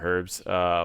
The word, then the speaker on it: herbs: got a lot of herbs which is or herbs depending on if you like to pronounce the the H or not and line-of-site pulls every